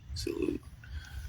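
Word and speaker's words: silhouette: Sil, S I L, Sil. And then haute, right? Salute. Salute. That's how you say it, quick, right?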